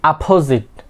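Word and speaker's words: opposite: The last one ইজ আমরা কি বলে থাকি অপোজিট, বাট it will be অপোজিট। Okay, অপোজিট, অপোজিট। স্ট্রেসটা কি হবে? প্রথমে পির মধ্যে হবে অপোজিট। সো সবগুলো উচ্চারণ আমি আরেকবার দেখিয়ে দিচ্ছি।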